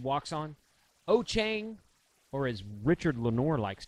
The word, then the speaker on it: Wouxun: Ochang, or as Richard Lenore likes to say, Wouxun.